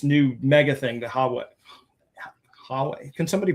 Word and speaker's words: Huawei: slower than this new mega thing, the Hawe Huawei. Can somebody pronounce that company? Huawei.